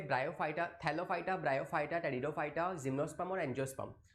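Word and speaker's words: Pteridophyta: फिर उसके नेक्स्ट में आते हैं थैलोफाइटा, सॉरी टेरिडोफाइटा, जो कि पी से स्टार्ट होते हैं, पी साइलेंट है, टेरिडोफाइट्स।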